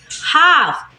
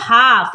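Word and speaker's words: half: क्या पढ़ते हैं पाम हाफ यहां पर भी एल जो है एफ से पहले आया है तो क्या पढ़ते हैं इसको हाफ एल हो जाता है साइलेंट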